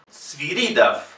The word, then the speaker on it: Sviridov: Georg Sviridov. Fíjense que la O no tiene acento, no es la sílaba tónica, por lo tanto se pronuncia A.